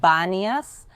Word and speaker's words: Banias: I told you that the city is called Banas nowadays with a B why because centuries and centuries later with the Arab Invasion the Arabs couldn't pronounce panas because in the Arabic alphabet they don't have the letter P and that's why panas became Banas but this city had